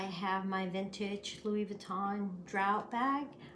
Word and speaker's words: Drouot: Today I have my vintage Louis Vuitton Drouot bag. I think that's how it's pronounced, Drouot, not sure.